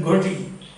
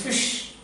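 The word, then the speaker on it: ghoti: And what you might have done is you said goti. Then the teacher will say it is not goti, it is fish.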